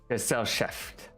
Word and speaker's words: Gesellschaft: I feel like that's going to be important in the future to learn how to pronounce that. Gesellschaft. Gesellschaft.